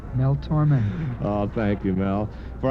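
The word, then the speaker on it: Tormé: Accent aigu over the E. Yeah, and what does that say? Mel Torme.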